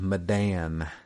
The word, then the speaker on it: Medan: Like Milan, but Medan. Yeah, that's the southern way of saying it.